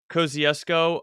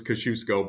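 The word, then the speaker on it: Kościuszko: for the job Thaddius kesco I believe I'm pronouncing that correctly you know I've heard a million different pronunciations I was always told it was kusco but I don't know yeah whatever we get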